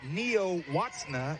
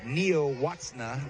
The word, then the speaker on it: Nielacna: Her last name is spelled Nielacna. So you never would have guessed it was Neo-Watsna, but that's what it is.